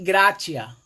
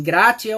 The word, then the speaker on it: gratia: O verbete gratidão vem do latim gratia. Eu acredito que se pronuncia assim, gratia ou gratia, que significa literalmente graça, ou gratus, que traduz como agradável.